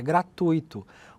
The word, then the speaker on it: gratuito: A pronúncia correta é gratuito com a tonicidade no U e não no i.